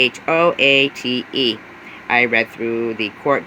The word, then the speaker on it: Choate: I'm not sure how to pronounce it. It is Choate.